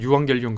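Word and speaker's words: εὐαγγέλιον: 그거를 헬라어로 에겔 에겔 원래 사실 유앙겔리온 그렇게 발음하는게 더 적절한데이 유한겔리온이란 단어가 로마 황제의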